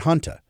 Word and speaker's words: junta: Not junta, not like military junta, not junta, not hanta, but hanta.